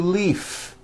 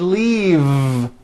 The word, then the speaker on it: leave: and I need to Leaf is that correct no it's not leaf with an unvoiced F I should have said leave with a voiced V sound faisa she just received